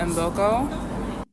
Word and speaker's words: Mboko: Hi, my name is Victoria Embokco. Embokco. Embokco. Embo. Embokco. There we go.